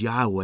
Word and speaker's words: Yahweh: The Hebrew word for the Lord's name is Yahweh. It means I am. Now sometimes people call the Lord Jehovah, but that's actually not only a mispronunciation, it's a misunderstanding of the Hebrew text.